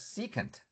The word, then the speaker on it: secant: Then you have this guy, SEC, which is pronounced as secant.